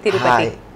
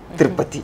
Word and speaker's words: Tirupati: Hi Tirupati. Tripati. Okay, since you are a Canada girl, I thought of pronouncing it like a stylish, no? Tripati. Then you have to say Tripati.